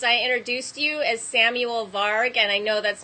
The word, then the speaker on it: Varg: And Varg, you can actually, in older English, you can find that word and pronounce it Varg.